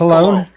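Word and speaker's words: Colón: It's pronounced Colon.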